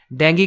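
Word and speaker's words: dengue: का आउटब्रेक हुआ था डेंगू का आउटब्रेक डेंगू मच्छर जो होता है हां उसका राइट प्रोनाउंसिएशन है डेंग डेंग आउटब्रेक ऑफ डेंग हुआ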